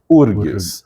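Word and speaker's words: UFRGS: Sul, que se pronuncia URGS. O F não é pronunciado, por razões históricas.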